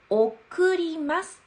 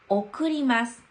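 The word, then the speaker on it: 送ります: はい、これは 1 番、送りますと読みます。送ります。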